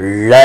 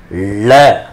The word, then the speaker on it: ழ: இந்த நாக்கு இருக்கு பார்த்தீங்களா இந்த நாக்க மடக்கி உள்ள கொண்டு வரணும் ழ அப்படின்னு ழ வாழை பழத்தோல் வழுக்கி கிழவன்